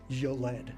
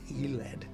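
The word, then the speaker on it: Yled: Because I've been this whole time calling the city of Iled, Yoled, right? Like I've been pronouncing it like Yoled, and it's Eled.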